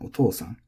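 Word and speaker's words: お父さん: These are very intuitive for English speakers because the accent, the pitch, is lining up with the long syllable. So it sounds very natural to us. Okasan, otosan.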